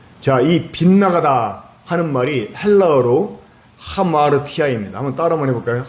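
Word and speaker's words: ἁμαρτία: 가운데서 빛나가 버렸어요 자이 빗나가다 하는 말이 헬라어로 하마르티아 있니다 한번 따라 한번 해볼까요 하마르티아 하마르티아 예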